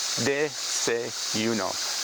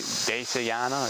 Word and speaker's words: desayuno: I've been here for 5 months now, and I'll mispronounce it constantly. Like desayana, it's like, no, desayuno. It's spelled like that. Desayuno, breakfast. And think about it this. They say you know. That's how I remember it. They say you know. They say you know. Breakfast.